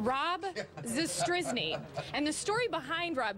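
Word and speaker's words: Zastryzny: Can you give me the pronunciation? Rob Zastrizny.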